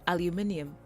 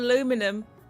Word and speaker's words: aluminium: Is that you say and spell it aluminum. Ours is aluminium. Thank you. Aluminium. Right? It's not aluminum. It's aluminium. Aluminium.